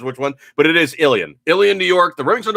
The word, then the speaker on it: Ilion: gun factory in uh alien new york which is i l uh was it i i l i l o it's like a lion it's like you know it's actually how it's said but you look at